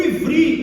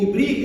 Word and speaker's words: Ivri: de Canaã, esse ifri, porque o o V no hebraico é B, tá? Então é, não é a gente lá eles não pronunciam Rebeca, né? É revica, é o B é sempre V.